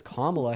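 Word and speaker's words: Kamala: A name that is pronounced as Kla Harris.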